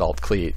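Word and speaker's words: Alt Clut: And it's pronounced Altcleat because the U in Welsh is pronounced like an E sound.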